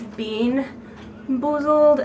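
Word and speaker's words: BeanBoozled: I was actually saying the name wrong. It's bean boozled, and they have skunk spray, pencil shavings, barf, moldy cheese, booger, and baby wipes.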